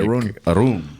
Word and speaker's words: Arun: Arun. I feel like, isn't that just like Aaron? But it's like, you're like Aaron? Yeah, it's like, no, it's like, that's how it's spelled. Like Aaron. Mm-hmm. Aaron. But it's like Arun. Mm-hmm. It's as though it's got a double O in there.